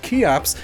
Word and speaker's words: Cheops: basically modern times anyway kops spelled chops but pronounced kops is how the ancient Greeks referred to kufu